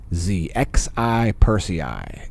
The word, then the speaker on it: Xi Persei: It is being illuminated by Z Persei. Z Persei is the star there, if you want to go look at it yourself. And yes, it is spelled like the Prime Minister of China. Xi Persei is the star that